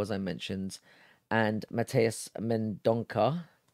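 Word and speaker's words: Mendonça: I mentioned, and Mateus Mendonca, Also pronounced, it was meant pronounced Mendonce, but I don't feel too comfortable saying that. So again, I'm going with Mendonca.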